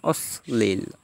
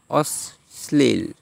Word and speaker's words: অশ্লীল: যেমন অশ্লীল, অশ্লীল, এখানে দুইবার উচ্চারণ হয়েছে, অশ্লীল।